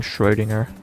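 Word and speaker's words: Schrödinger: You actually pronounce the Yeah, that's cuz I know German. I've had two years of German and I live very close to Germany. I know how to pronounce German names and words, including Shreddinger. I'll get a few more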